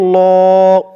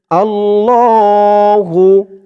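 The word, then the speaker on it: اللهُ: আল লাম খারা জবর আল্লাহ আল্লাহ ল এক অলিফ টান আল্লাহু আল্লাহু অনেকে বলে আল্লাহু আল্লাহ বললে আল্লাহ শব্দের উচ্চারণটা শুদ্ধ হয় না বলতে হবে আল্লাহু লা তিন আলিফ টান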